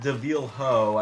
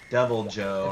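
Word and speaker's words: Deviljho: And I believe it is pronounced Devilho. I don't know why people call it Devil Joe. If you call it Devil Joe, I'm gonna slap you. It's got an H in it.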